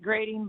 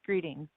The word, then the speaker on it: Greatting: you bob starlin hayden greeting clint yes it looks like grading but it's pronounced greeting um i am a